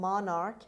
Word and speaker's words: monarch: خب توی این فونتیکی که من براتون نوشتم monarch هر دوتا صدای آی کشیده است. monarch هم داریم، دو تا تلفظ داره، اگر دیدید تعجب نکنید.